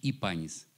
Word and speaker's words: Гипанис: Вообще само слово, оно звучит по-гречески «ипанис». А так как считается, что было придыхание в словах, поэтому ставится буква «г», как в слове «Геракл», допустим.